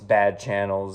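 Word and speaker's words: Xchannels: And I know it's Bad Channels and the X is silent, but you know what I'm talking about.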